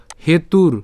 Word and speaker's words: হেতুর: এরপর মা কর্ম ফল হেতুর কেন হেতুর এখানে রেফ আছে আমরা রেফের উচ্চারণটা র হসন্ত পর্যন্ত উচ্চারণ করে ফেললাম তাহলে উচ্চারণটা কেমন হবে